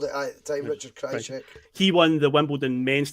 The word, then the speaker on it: Krajicek: Richard Krajicek, was it? Richard Krajicek. That's how everyone called it at the time, Richard Krajicek.